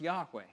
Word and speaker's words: Yahweh: be uttered at all most Scholars agree the name would have been pronounced Yahweh but there were no vowels in ancient Hebrew Hebrew it wasn't until